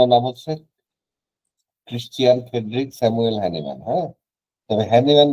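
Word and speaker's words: Hahnemann: এটা একটু মুখস্ত করে যাবেন ঠিক আছে হ্যানিম্যান বানানটা কিন্তু একটু ক্রিটিক্যাল আছে বাংলাতে আমরা হ্যানিম্যান বলি কেউ হানিম্যান বলে কেউ হানিম্যান হানিম্যান বলে ঠিক আছে এটা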